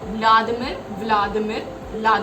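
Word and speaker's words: Владимир: इसको एक और बहुत बड़े फिलोसोफर व्लादिमिर लेनिन, व्लादिमिर कहते हैं उनको, वी से स्पेलिंग इनकी स्टार्ट है लेकिन वी साइलेंट है।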